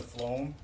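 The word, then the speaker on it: phloem: the xylem and the flo uh that's what these words are right here they're not as easy to pronounce when you see them but when uh they're they're referred to as xylem and Flo the plant uptakes water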